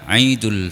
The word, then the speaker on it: Id: Menyebutkan Id adalah dengan Id, menuliskan di dalam bahasa Indonesia dengan idul, bukan ditulis dengan aidul.